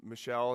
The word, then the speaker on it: Michelle: Google told me you say it Michelle. Right? Michelle is how it's pronounced.